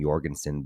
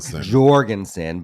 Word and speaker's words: Jorgensen: I think, they keep pronounced, for all my life, I've pronounced her last name Jorgensen, but they pronounce it with a hard J. Jorgensen.